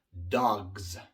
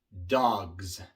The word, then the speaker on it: dogs: Pero como la palabra dog termina en una consonante sonora, la G, G. Al pronunciar la G, utilizamos las cuerdas vocales. Entonces, al hacer la palabra plural, o sea, agregando una S, tenemos que pronunciar la S de forma sonora porque la G que viene antes es sonora.